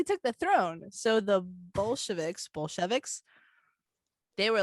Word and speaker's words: Bolsheviks: It's the Bolsheviks, right? Am I pronouncing that correctly?